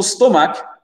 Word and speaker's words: stomach: L'accent tonique ici, il est sur la première syllabe. Et ce n'est pas un O, d'accord?